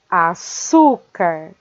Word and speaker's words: açúcar: Estas daqui são palavras paroxítonas e açúcar é paroxítona, que termina em R.